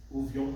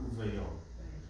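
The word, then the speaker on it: וּבְיוֹם: Uvyom hashabat, uvyom, not uvayom. So when you have, somebody going, uvyom, uvyom, uvyom, uvyom, uvyom, hash. No, it actually should be uvyom, uvyom, uvyom, uvyom, which works much better.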